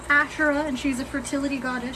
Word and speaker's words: Asherah: let me look up Astra Astra I butchered her name um so her name is asherah and she's a fertility